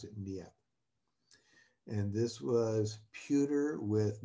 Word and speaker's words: Niépce: Yes, that's how you pronounce it, Niépce.